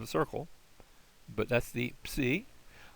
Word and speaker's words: psi: But that's the psi. Like our word lips, if that helps you get the sound of it.